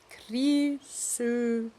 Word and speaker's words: Krýsuvík: Yeah, okay, now let's pronounce it right. Krýsuvík. With this thing between a German U and a German Ö, sort of.